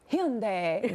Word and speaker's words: Hyundai: a great ad um the brand says that Hyundai that it represents the global pronunciation and also reflects the Korean Heritage okay so here's my